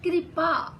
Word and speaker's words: कृपा: गया था, लेकिन जब हम बोलें कृपा तो ये ऋषि की मात्रा ई जैसा सुनाई देगा और ये पैरों में ही आएगी, लेकिन अर्ध आधे अंग्रेजी के सी के रूप में बनेगा। तो ये उच्चारण भी ध्यान रखना।